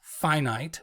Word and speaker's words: finite: encountered the opposite of that word which is pronounced finite which just means not infinite so getting one